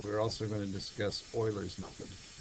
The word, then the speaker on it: Euler: all right so we're also going to discuss Oilers meod e l r this is a method